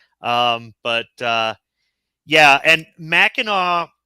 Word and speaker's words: Mackinac: but uh yeah and Mackinaw is spelled Mackinac but it's pronounced Mackinaw so you'll see it